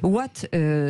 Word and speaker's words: Waat: intéressant et important de présenter une une entreprise what c'est une jeune entreprise et aujourd'hui qui s'est